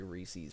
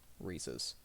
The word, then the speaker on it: Reese's: I used to say Reese's by accident, and some people don't like that. So, Reese's.